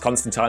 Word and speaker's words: Constantine: Yes, it is pronounced Constantine.